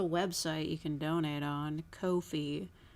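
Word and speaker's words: Ko-fi: you can donate on Kofi but I pronounce it coffee cuz I'm I don't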